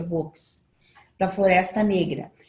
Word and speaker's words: Vosges: Eu vi a Vosges, parece que a pronúncia é Vosges, da Floresta Negra e dos Montes Urais.